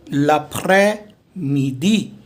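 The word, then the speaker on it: après-midi: I have 4 sheets for you today, and this S is silent. So de l'après midi.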